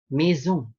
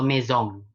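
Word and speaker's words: maison: penting untuk la karya mizu artinya rumah mizu bukan mesum atau mizone mizone salah nisung kurang benar kurang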